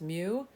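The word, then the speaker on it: μ: see this Greek letter it's pronounced mu like a cat mu that's a population mean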